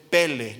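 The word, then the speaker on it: פלא: que viene del hebreo pele no como pelee el futbolista no tiene nada que ver ese señor verdad jugó muy bien fútbol pero nada que ver con esto este lleva acento en la primera epl y significa milagro maravilla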